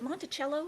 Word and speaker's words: Monticello: um he lived in is it monticello is that how you pronounce it yes and did